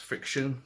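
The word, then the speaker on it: FriXion: made by pilot um i think it's supposed to be pronounced friction but it's the way a spell is a fixeon um anyway it's a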